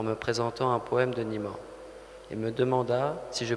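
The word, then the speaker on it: Nima Yushij: Peut-être vous pouvez mieux le prononcer que moi. Oui. C'est Nima.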